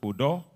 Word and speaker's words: Udo: Yes, your own Udo has no H, so it's pronounced Udo.